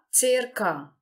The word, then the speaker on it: circa: E nós também vamos entonar aqui a primeira sílaba desta palavra.